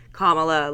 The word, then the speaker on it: Kamala: like the fact that she mispronounced kamla Harris's name it's Kamala like Comm LA but I really don't